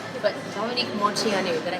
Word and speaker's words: Moceanu: But Dominique Moceanu, did I say it right? Moceanu, yeah.